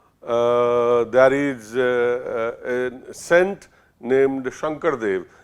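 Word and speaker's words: Sankardev: And you go to Assam, there is a saint named Shankardev. In Assam, they pronounce it as a Hankardev.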